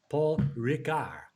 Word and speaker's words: Ricard: Le Circuit de Paul Ricard, because you don't pronounce the D.